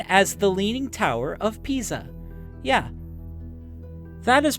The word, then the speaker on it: Pisa: It is Italian, so the S is pronounced like a Z, and the I sounds like E. Think of a P like a green pea, and then say za, Pisa.